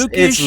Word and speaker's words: Lukhash: it's Lookish, Lukhash. real nice. it's I Lukhash.